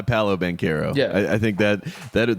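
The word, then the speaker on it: Paolo Banchero: yeah and i think paulo ben carro is uh awesome it goes by paulo banquero yeah i think that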